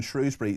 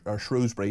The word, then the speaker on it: Shrewsbury: Peter in Shrewsbury says, or Shrewsbury, however you want to pronounce it, Starmer is told constantly